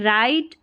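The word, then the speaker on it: right: Confidence and द राइट में GH silent है, राइट method.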